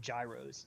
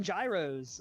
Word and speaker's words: gyros: He goes, yeah, let's go get some gyros. I'm like, you mean euros? Euros. It's like, yeah, It's yeah. either Euros or Gyros. Gyros. Yeah, I think the proper Greek pronunciation is euros.